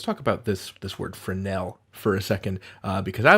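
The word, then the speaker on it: Fresnel: you don't say the S you say it friend Nell accent on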